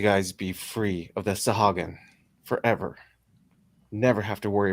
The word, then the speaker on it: Sahuagin: How do you pronounce that lizard name? Savagan? Sahagin. It's Sahuagin.